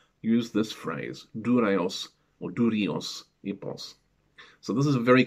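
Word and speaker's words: δούρειος ἵππος: The wooden horse is written Durios Ipos, rather than the classical pronunciation Dureios Ipos.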